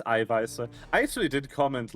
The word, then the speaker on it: Eiweiße: I witnessed someone do the classic American mistake of thinking the SZ is pronounced like a B. Oh. Yeah, of course. And they pronounced the German word for protein Eiweiber. Eiweiber. It's pronounced Eiweiße, which is plural.